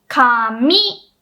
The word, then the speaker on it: 紙: Anyway, 紙 low high, that's paper or hair.